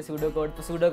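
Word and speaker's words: pseudo: First तो मुझे पता ही नहीं थे ना कि पी साइलेंट होता है इसमें सूडो कोड वैसे कहता था।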